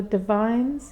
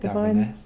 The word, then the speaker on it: Davines: Yeah, I've got the Divines. Is that how you say it? Davines.